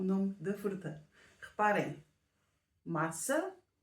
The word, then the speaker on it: massa: errado Hum vamos ver da maneira como está escrito nós pronunciamos massa que é como pasta mas se escrevermos com um c de cedilha e com um til no último A então vai ser maçã que é o nome